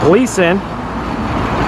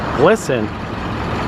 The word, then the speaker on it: Gleason: All right, just getting here to Gleason, 181st, and I actually just pronounced it wrong. It's actually pronounced Glisten. For years I thought it was Gleason, but it's actually Glisten.